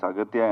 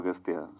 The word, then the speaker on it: Aghathiyaa: It is Aghathiyaa, but in the film your name is pronounced in different ways. Aghathiyaa. Yeah. In both ways it is pronounced. Yeah, it's Aghathiyaa and also Aghathiyaa.